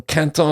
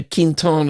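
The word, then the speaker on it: Quinton: Rene Canton cantones q-u-i-n-t-o-n I say you know cantal is what the french say Quentin is what the Northerners saying Quentin is what the middle Americans say anyway you say it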